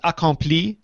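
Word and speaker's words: Acompli: today outlook for iOS it is Acom I think that's that's how you're supposed to pronounce it even in American Acom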